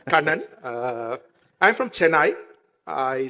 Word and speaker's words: Kanna: insights all right so even AI couldn't pronounce my name Canan uh I'm from chai I studied in in